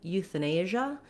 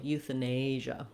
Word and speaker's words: euthanasia: Okay, then when we switch from euthanize to euthanasia, the stress pattern changes and the vowel sounds change. We still have our eutha start, but we're not stressing that first syllable anymore. It only has secondary stress. The main stress is on this A syllable, euthanasia.